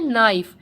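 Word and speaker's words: knife: नाइफ का के जो है वो साइलेंट है, म्यूट है, तो हम इसको क्या पढ़ते हैं, नाइफ।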